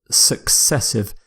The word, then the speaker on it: successive: Successive. It's similar to consecutive. Successive means something happens one after the other, usually without a gap, and the pronunciation success, as in the word success, of course.